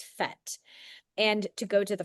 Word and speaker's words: PhET: So, the easiest the absolute easiest way to get to these free simulations is to type ph into your browser ph which we pronounce as fet and to go to the first link.